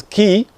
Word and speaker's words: key: So it's not quaid, it's key, sheep, and then deep, and then peace, and then people.